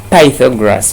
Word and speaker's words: Pythagoras: Pythagoras, and some people pronounce this one as Pythagoras.